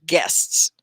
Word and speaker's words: guests: customer more than one it's more than one guests right one syllable guests so it's not guest